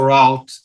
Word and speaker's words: route: something that you call route that's right that's right i used to say rude but i think they are saying the wrong way you can say root that's perfect you can say either one i say root because